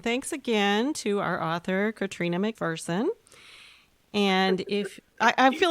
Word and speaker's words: Catriona: thank you and thanks again to our author Katrina McPherson and if I feel like I should